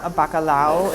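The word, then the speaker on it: bacalhau: I did, bacalao is the way they pronounce it here. In Italy, it's bacala. It's codfish.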